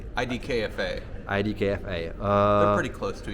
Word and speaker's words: IDKFA: news obviously something that we in Czech called edfa but in English how do you say ID KFA ID KFA uh they're pretty close to each other check